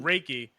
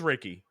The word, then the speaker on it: Reiki: Hey, so did I pronounce, is it Reiki? Reiki, Reiki. Reiki.